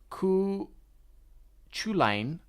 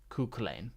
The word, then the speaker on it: Cú Chulainn: That's with the letter Q is chi, is how you say it. But the letter C would be like sounding like the letter K. Oh, okay. Cú Chulainn.